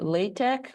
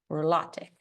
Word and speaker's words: LaTeX: So you can either pronounce it LaTeX or LaTeX. Two options for pronouncing that word.